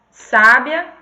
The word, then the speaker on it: sábia: Então, a gente tem palavras diferentes, que a única diferença entre elas na escrita é a acentuação. E na fala é porque a gente faz essa pronúncia mais forte, né?